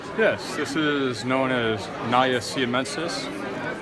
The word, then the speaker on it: Naja: Yes, this is known as Naja siamensis, often mispronounced as Naja, but it is Sanskrit.